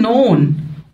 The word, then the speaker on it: known: famous famous بتساوي well known well known اللي هي معروف الكي لو جي وراها ان مش بنطق الكي تبقى silent برضك معروف أو مشهور